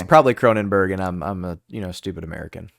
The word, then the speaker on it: Kronenbourg: I'm pretty sure that they pronounce the OURG as Berg, but I could be out of bounds.